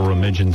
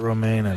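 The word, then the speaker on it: Romijn: the woman is rebecca romigan stamos oh really permission yeah that's the proper pronunciation she's on the cover some magazine right now premiere rebecca romain's name r-o-m-i-j-n how do you get romaina yeah right yeah she's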